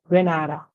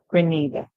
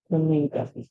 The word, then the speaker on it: Grenada: next word isada and a lot of person pronounce it as Granada Granada you know and that's very funny people